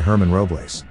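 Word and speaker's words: Germán Robles: it looks in spanish the letter g has an h sound so think of the thirsty count as being played by herman robles roblace is quite active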